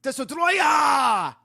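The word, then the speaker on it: Destoroyah: all merge into one the name of the monster surprisingly isn't destroyer it's desotroya yeah that's the official name it's spelled just like that maybe because they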